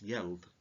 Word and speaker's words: geld: should really be pronounced yelp and is effectively the word yield the payments were in